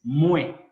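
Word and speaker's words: mwen: Yo en criollo haitiano es mue. W en criollo es como la U en castellano. Es como si tuvimos M-U-E-N, mue, yo.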